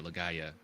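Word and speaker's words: Legaia: leaya oh gotcha gotcha legaya is how they the they're pronounced their PS one G RPGs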